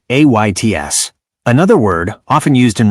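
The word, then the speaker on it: עץ: Hebrew word for tree is ets, text pronounced like ayts.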